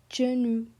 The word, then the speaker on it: genou: So here we have genou. How do you pronounce it? Genou. And then we have joue. Joue. Genou means knee.